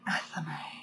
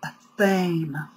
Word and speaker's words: athame: And I do not use the pronunciation athame. Why? Because I find it too feminine for an otherwise masculine tool. I use the pronunciation of athame because it has a weight and lends a more appropriate masculine feel to the tool.